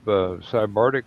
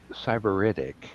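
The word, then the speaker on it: sybaritic: I go, "Hey, is this the kind of cybardic lifestyle that I can grow to be accustomed to if I actually become a successful writer?" And Jerry looked up and says, "It's pronounced cyberitic."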